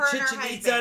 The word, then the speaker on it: Chichen Itza: time we went to chichen itza to visit the mayan ruins and he's like chichinita you say it like chicken pizza chicken pizza i was